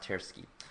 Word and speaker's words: Tversky: I don't know how to pronounce this very well either, but I think it's pronounced Tversky.